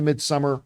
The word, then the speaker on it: Midsommar: was really good in Midsommar. Some people pronounce it Midsummer, whatever you want to say. I always called it Midsommar.